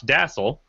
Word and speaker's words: Dasal: And our victim today is Dasal, who Rhymes with castle, as we have been told.